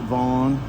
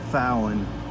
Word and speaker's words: Fallon: A lot of people call it Vaughn. Some people call it Vallon. But I've heard from a German that it is actually Fallon. So it's like pronounced with the F.